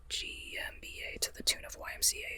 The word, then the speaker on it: G. M. BA: When truth cowers by GMBA and yeah, that's how I say my name, by the way. GMBA. I mean, if you if you say GMBA, I won't oppose it.